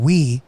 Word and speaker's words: Uy: i realized that there were wees so the real technical way to pronounce it is like we but with a glottal stop like we so it's